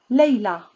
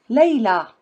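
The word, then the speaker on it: ليلى: Female names: Huda, Muna, Leila, Selwa. See, you don't pronounce ya, you pronounce it like you pronounce Alif. Huda, Muna, Leila, Selwa.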